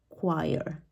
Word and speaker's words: choir: word choer how do we say this one choir this is one of the words where CH is pronounced as a cqu again it's a commonly